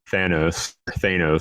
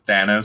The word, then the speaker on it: Thanos: It's Thanos. Yeah. Thanos. How do you say it? It's both. I think it's both. I've heard the president of Marvel say Thanos.